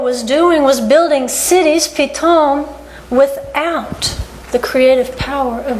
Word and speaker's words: Pithom: But if you match it to the Hebrew word Pithom, which is actually pronounced the same, Pithom, it means suddenly in Hebrew.